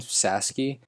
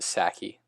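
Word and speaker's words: Psaki: white house press secretary jen sasky sorry now i know it's pronounced saki recent statement that the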